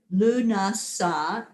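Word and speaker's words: Lughnasadh: the word that she put up like blessed luna sa is how you pronounce it and it's harvest happy harvest yes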